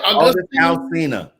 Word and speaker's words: August Alsina: August Alsina.